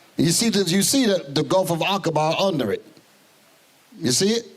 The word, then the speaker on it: Aqaba: Aqaba, that's how that's pronounced.